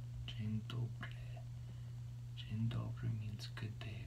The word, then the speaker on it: dzień dobry: If the N has an accent over the top, it almost sounds like there's a Y that's very slightly pronounced.